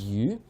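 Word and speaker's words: 鱼: Chinese is pronounced as yu, which sounds very similar to a different word, surplus.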